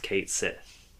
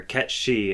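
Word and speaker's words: Cait Sith: Final Fantasy 7 rebirth mhm Kate Sith is pronounced Kate Sith or Kat she is pronounced Kate s you think this is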